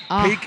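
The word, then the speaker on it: PEAQ: to go on a peak is spelt p-e-a-q by the way so if you want to look look them up online p-e-a-q peak conditioning and coaching and on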